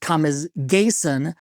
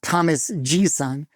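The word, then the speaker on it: Thomas G:son: Bas apparently this prolific Swedish songwriter is actually pronounced Thomas gayon not Thomas gon um here's a question for the swedes let's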